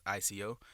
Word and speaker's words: Phlexico: It's spelled differently, but I mean, like the pronunciation of it is the exact same thing. So they're Phlexico with an F. So Phlexico, like Flexico.